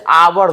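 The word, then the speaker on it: hour: क्या होता है कि जैसे आवर लिखे, तो आवर में मालूम है बउआ एच साइलेंट है। साइलेंट मतलब समझते हैं, होइयो के न है, तो बच गया क्या, आवर। तो आवर लिखेंगे तो इसका उच्चारण हमारे जुबान पे आ आया, इसीलिए आवर के पहले भी एन लगता है, ए एन।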